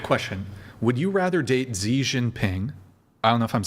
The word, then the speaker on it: Xi Jinping: Would you rather date Zhinping? I don't know if I'm saying how do you say his name? Zinping. Zi Ci I am fluent in Mandarin. Zi Xi Jinping C or Kim Jong Kim Jong-un.